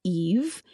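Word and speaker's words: Aoife: And so the king, who is named Bold, I believe, King Bold, offered Lir his daughter, pronounced Eve, as kind of a peace offering for their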